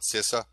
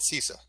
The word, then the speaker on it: CISA: infrastructure security agency or as we like to call it cisa uh some people even call it sisa depending on how you pronounce it so i i'm